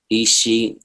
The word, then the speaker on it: Isha: Isha.